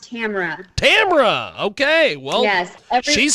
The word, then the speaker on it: Tamera: Tamera is with us. Tamera, welcome to the broadcast. How are you, my friend? Hey, doing well. It's actually pronounced Tamara.